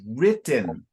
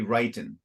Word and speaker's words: written: now it's written and when you see those two T's so the two T's are to help signal if it was r i w r i t one t e n then maybe would be writing but the two T's